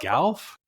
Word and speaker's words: Gough: So, we were literally just saying, she's like, oh, people say it like Van Gogh.